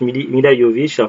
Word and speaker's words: Milla Jovovich: willy à milla jovovich ça s'écrit milla jovovich mais se prononce millimes il a yo vischer si vous savez pas